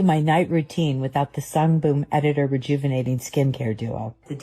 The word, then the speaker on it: Sungboon Editor: I think it's very obvious here because first of all, she gets the brand name wrong. Sunboom editor.